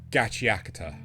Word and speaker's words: Gachiakuta: to the fact that no one really knows how to pronounce it, because I've heard people call it Gachiakuta. I've heard people call it... Can't remember. Like, there was some horrible attempt at pronouncing it. Like, I think it is supposed to be Gachiakuta, right? Yes, because Akuta is something like the dump or trash.